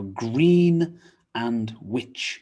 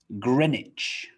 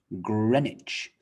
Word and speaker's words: Greenwich: say it but no greenwich greenwich so we don't pronounce the w we drop the w green becomes gren and greenwich greenwich famous place in